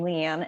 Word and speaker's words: Lean: from there hi I'm Leanne and um my name actually uh my first name is actually spelled strangely so I'm I appreciate the opportunity to spell it for people um it's pronounced lean but it's spelled l